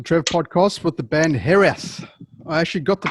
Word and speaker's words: Hiraeth: to talk to trev podcast with the band hereth i actually got the pronunciation correct because i lived in wales i worked in wales and i've got family in wales hair so so that so then we're saying it